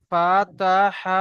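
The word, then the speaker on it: فتح: ফাতহু নয়, ফাতহ। জি লাস্টে হুজুর। হা কে উচ্চারণ করেন, হা কে সাকিন করছেন, হা কে উচ্চারণ করেন, হ্যাঁ ফাতহ।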